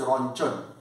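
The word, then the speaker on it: Röntgen: hem conor but uh if i want to pronounce as spelling then around the game but i heard that german pronunciation is there that is rancher but spell wise around again uh maybe possible that's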